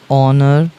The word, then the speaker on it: honour: An honest man, এইসের উচ্চারণ হবে না। অ্যান অনার অথবা অ্যান অনার।